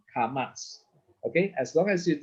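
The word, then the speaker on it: kamats: don't worry about that it's remember the sound karmas okay as long as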